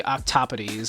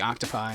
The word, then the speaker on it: octopodes: was traditionally supposed to be octopodes, I believe. As it actually comes from the Greek, the Greek, not the Latin. So it wouldn't be octopi, it'd be octopodes. Or octopodes, if you want to pronounce it in, like, you know, without the Greek accent.